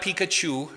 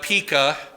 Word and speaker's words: Pekah: And then Pekah, not Pikachu, but Pekah, sets up a rival kingdom.